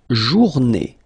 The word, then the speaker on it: journée: Then, la journée, final E, not pronounced, and it's day.